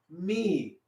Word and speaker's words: mi: that right so here m i m i spells out me everybody's saying me now oh wait a minute i know what you're thinking usually the word me when you're talking about